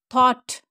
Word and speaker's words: thought: g h o u The letters OU sound is A and GH is silent in this word. Okay. Th, A, Tha, Tha, T, Thought.